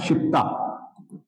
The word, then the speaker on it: citta: पहला नाम है चित्ता, स्पेलिंग यही है लेकिन प्रोनाउंसिएशन चित्ता ही बोल रहे हैं हम लोग इसको, प्रोनाउंसिएशन वैसे ही हो रहा है, KSIP।